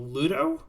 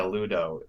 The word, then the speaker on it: Ludo: I'm really curious uh top middle Ludo is how you pronounce it yeah Ludo it was a band